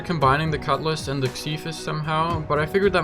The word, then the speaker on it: Xiphos: i see the word i want to say zyphus but apparently it's actually pronounced cephus so we'll go with that anyways i went